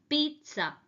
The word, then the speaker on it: pizza: ஆனால் அது பீஸான்னு நம்ம சொல்லவே கூடாது. This is correctly pronounced as பீட்சா. பீட்சா.